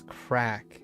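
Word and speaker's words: craic: OG Fortnite and just having a bit of Praic? I don't know what that word means. Wait, is that an acronym? PRAIC? No. Yeah, I heard about Fortnite. You and your Fortnite. Pronounced as crack means fun.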